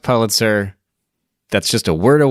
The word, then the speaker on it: Pulitzer: that throughout this podcast episode I'm going to mispronounce Pitzer because it's the Pitzer prize it's not the Pitzer prize even though the way the word is